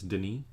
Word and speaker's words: Denis: he's french canadian so his name's not dennis it's denis which i learned but all